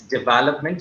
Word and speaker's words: development: Okay, it's development. So the stress is in that development.